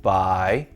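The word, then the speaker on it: 百: This character is pronounced bai.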